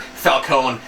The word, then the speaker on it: Falcone: Typical Robin There's one Batman at Falcone conflict.